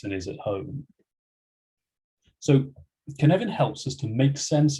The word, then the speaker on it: Cynefin: for ibm global services the name canevan i'm told comes the welsh language hence the pronunciation which might not be what you expect it apparently approximately means